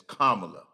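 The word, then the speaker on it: Kamala: to pronounce it is say comma you know like a comma in a s sentence and then just say comma her name is kamla so uh I would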